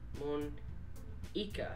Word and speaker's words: Monika: Monika. That's how you say my name.